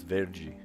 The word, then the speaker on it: verde: You spell it the same way, but you pronounce it different because the DE makes a J sound. So it's verde. Verde.